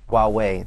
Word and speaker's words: Huawei: Not like, say, Huawei, I don't know how to pronounce it. Huawei, there you go, thank you.